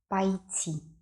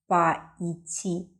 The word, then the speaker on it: пойти: If we add a prefix to the verb ИДТИ, we get ПОЙТИ. It is not поидти. No. It is ПОЙТИ. Я хочу пойти. The stress on the last letter - пойтИ Я хочу пойти в спортзал сегодня.